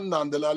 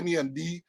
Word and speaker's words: Nandlall: It's not Nandlall, it's Nandlall.